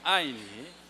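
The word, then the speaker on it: 爱: 그 한국말로 그 애자라는 거, 사랑의 애자, 그 중국말로 중국 발음은 아이입니다. 아이.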